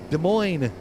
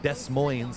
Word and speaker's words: Des Moines: The S's are silent.